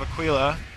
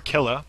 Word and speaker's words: Aquila: comes in with his ring of Aquila or ailla depending on your uh pronunciation and what part of the country you're from massive Kill from from